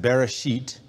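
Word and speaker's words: בְּרֵאשִׁית: In fact, the word, I believe the word is pronounced Bereshit, is the Hebrew word that's the first word in the Bible, and it means beginnings.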